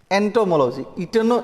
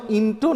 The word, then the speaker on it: एंटोमोलॉजी: एंटोमोलॉजी बोलिए मेरे साथ, एंटोमोलॉजी, इंटो नहीं बोलिएगा, एंटोमोलॉजी।